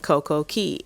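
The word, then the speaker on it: Coco Cay: In the Bahamas, the way you pronounce key, they spell it C A Y.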